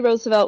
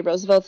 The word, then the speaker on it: Roosevelt: Oyster Bay Roosevelts, Teddy Roosevelt was a part of the Oyster Bay Roosevelts, and they said Roosevelt, and FDR was part of the Hyde Park Roosevelts, and they pronounced it Roosevelt.